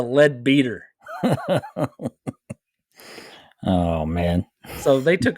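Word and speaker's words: Leadbeater: Webster lead lead beater I would think it would be lead better but no it is spelled l e a d b e a t r that is a lead beater oh man so they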